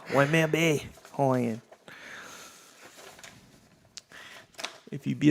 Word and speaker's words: Waimea: Oh, and by the way, it's Waimea, not Waimea.